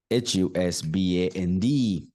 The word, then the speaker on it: husband: symbols use the dictionary husband you see b b husband it's not band husband someone can think this is band b a n d band this is not band it's husband do you